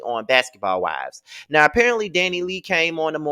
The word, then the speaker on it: DaniLeigh: I've been saying DaniLeigh, and ain't none of y'all been correcting me. I guess y'all don't like the girl and don't give a damn about me mispronouncing her name. But however, this is DaniLeigh.